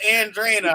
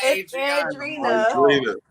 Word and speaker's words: Andrina: Adriana, you're all right, so it's Andrina, all right? It's not Adriana. Andrina.